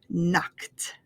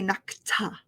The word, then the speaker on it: knocked: Okay, so when you have a K at the end and we add an ED, it makes the T sound. Knocked, knocked.